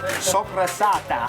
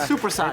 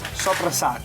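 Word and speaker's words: soppressata: Sopressata. Sopressata. That's the sausage we make, right? Yes. Sopressata. It's not supersat. It's not supersat, it's sopressata.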